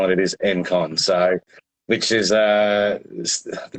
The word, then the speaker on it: Engcon: is it's Enon is correct most people do pronounce it Enon um but it actually is the GS s it is en con so which is uh the reason well how